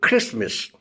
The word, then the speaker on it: Christmas: T is also silent in certain words like Christmas. T is silent here.